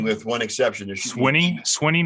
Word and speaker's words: Swinney: is actually the correct spelling with one exception swinney swinney not sweeney yeah it is swinney it's sweeney it's pronounced when you play actually in there though